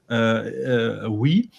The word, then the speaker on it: Oei: I just learned that it's pronounced Oei.